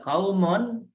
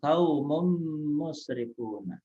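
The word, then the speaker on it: قومٌ مسرفون: Bukan dibaca kaumun, melainkan kaumum musrifuna.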